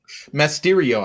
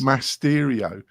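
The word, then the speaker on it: Mastery.io: Have I butchered the name completely, Kurt? I think maybe you have. I think it's Masterio. I think it is. Masterio.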